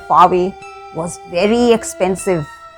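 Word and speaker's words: sake: Fave is a popular Japanese drink. SA is pronounced like FA in father and KE rhymes with way. So it is known as fave.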